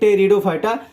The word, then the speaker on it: टेरिडोफाइटा: एक हमारा होता है थेलोफाइटा, एक ब्रायोफाइटा, एक टेरिडोफाइटा, जिसे आपको अच्छे से समझ के रखने का है। क्लियर। जो हमारा क्रिप्टोगेम है इसके 3 डिवीजन है। एक हमारा थेलोफाइटा, ब्रायोफाइटा एंड टेरिडोफाइटा। पे साइलेंट होता है।